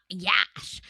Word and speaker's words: Yash: And then here these people go, my name's Yash, girl, it's a car crash. It's a car crash. That's how you can remember how he pronounces it on the show.